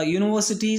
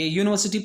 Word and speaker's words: university: Obviously it is vowel letter, but the sounds, the pronunciation starts with ya, you. So A is the right answer. Mr. Sharma is a university professor.